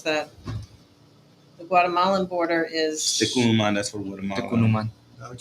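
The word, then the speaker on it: Tecún Umán: the border in, I don't know how to pronounce that. The Guatemalan border is, Tecunuman, that's for Guatemala.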